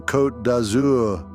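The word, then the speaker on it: Côte d'Azur: Welcome to the French Riviera, or as the locals say with a twinkle in their eye, the coat dazour, the azure coast.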